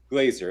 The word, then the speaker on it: Glazer: you are hi did i say your last name correctly glazer okay yeah i i had a a friend that had the same last name and pronounced it glass or glazer i know there's a different way there good it's good to